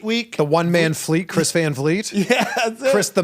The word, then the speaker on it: Van Vliet: I think that if I were to do it again, I would have made my last name Vleet, so it would be phonetic.